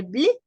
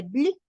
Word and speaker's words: bleu: Y las 3 formas se pronuncian igual, pero se escriben diferente.